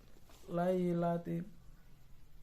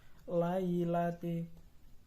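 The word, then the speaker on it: لَيْلَةِ: anza anza yang keempat lailati yaitu adalah bacaan Mad layin karena ada tanda baca fathah bertemu dengan huruf ya bertemu dengan huruf ya mati cara membacanya sekedar lunak dan lemas lailati yang kelima alqomariyah karena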